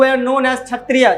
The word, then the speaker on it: क्षत्रिय: हो have non एस छतरियां क्षत्रिय में याद रखिएगा के साइलेंट होता है आपको लिखना भी जब पड़ेगा तो छतरियां हमें किए जरूर likhiyega क्योंकि ये साइलेंट है तो छतरियां जो द